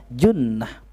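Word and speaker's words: جُنّة: ya junnatun gym nunta Biasanya kalau Juntak Bacanya jan-jan apa Jannah sorga itu nah disini katakan junnah ya Try say benteng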